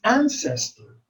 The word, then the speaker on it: ancestor: For example, in the word ancestor, the first syllable is accented. Ancestor. We don't say ancestor or ancestor. It's ancestor.